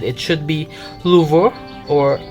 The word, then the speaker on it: Louvre: By the way, I always hear this word pronounced as Louvre, but when I checked some French clips on YouTube, they said it should be Louvre or Louvre.